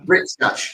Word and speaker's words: Rick's Catch: I'm going to pronounce this terribly badly. Is it Rick's Catch? Rick's Catch. Yes, Yeah, Rick's Catch. Thank you. You got it.